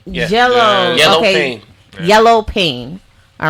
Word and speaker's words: YelloPain: YelloPain.